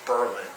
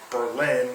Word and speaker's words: Berlin: name of the town Berlin um which is different than Berlin which you would think phonetically the way that it's spelled and named after the